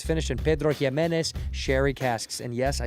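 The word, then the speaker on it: Pedro Ximénez: It's finished in Pedro Himenez cherry casks. And yes, I said it right. Pedro Jimenez.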